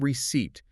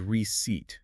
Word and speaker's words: receipt: Notice how your brain desperately wants to pronounce that P. Yeah. You have to consciously silence it. It is not receipt. It is receipt.